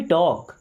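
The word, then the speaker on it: talk: सोचने दो लेट मी टॉक late मी्स दो मींस मुझे यहां पे एल साइलेंट टॉक टॉक का मतलब बात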